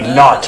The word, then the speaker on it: knot: K-N-O-T, not. Spell the K, say it like it's not there.